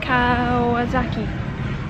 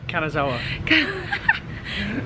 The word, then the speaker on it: Kanazawa: We've just arrived in Kawasaki. How you say it? Kanazawa.